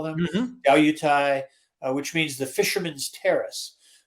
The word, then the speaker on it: Diaoyutai: It is also known as, I found the term here, how it's pronounced in Chinese. It's called Diaoyutai.